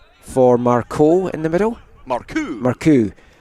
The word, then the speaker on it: Marcoux: Marcoux. That's my third different pronunciation of him. I tried Marceau yesterday, and then you told me it wasn't that, and then I forgot what it was before we started the commentary.